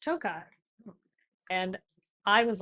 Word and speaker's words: Tokaj: I came in and I said something about Tokaj. Oh. And you said, oh, actually, it's pronounced Tokai.